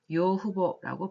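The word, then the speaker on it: 養父母: 그리고 양부모님, 부모님 양쪽 다 양부모님, 일단 뭔가 양어머니, 양아버지를 한꺼번에 일컬을 때는 일본어로는 요후보라고 발음을 하시면 되겠습니다.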